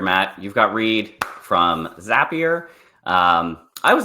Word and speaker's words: Zapier: All right, but for today's topic, now that we know how to pronounce Zapier, we know how to say Zapier MCP, which